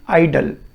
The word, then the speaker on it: idol: सो इसको हम बोल रहे हैं आइडल। सेकंड हमारे पास वर्ड है आइडल। इसकी और इसकी प्रोनाउंसिएशन सेम है, they both have same pronunciation, that is आइडल।